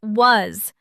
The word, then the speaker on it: was: Remember, a heart word is a word we learn by heart because part of it doesn't follow the sounded out rules.